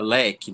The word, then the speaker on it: leque: Porém, se nós formos pronunciar, nós vamos observar que a palavra leque possui somente quatro fonemas, quatro sons. L, né, do do L, é, que, que, u, fica que e o é.